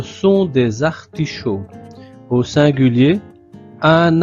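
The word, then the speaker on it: artichauts: Ce sont des liaisons chaud sans prononcer le t et le s final. Ce sont des artichaud. Au singulier un artichaud.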